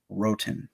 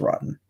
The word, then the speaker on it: Roten: Raiders is Greg Van Roten. That's what I'm going to say his last name because there's no way it's Rotten. It's spelled Roten.